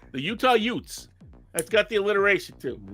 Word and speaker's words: Utes: the Utah youths only it would be pronounced like Uncle Vinnie my cousin Vinnie and be the Utah Utes the Utah Utes so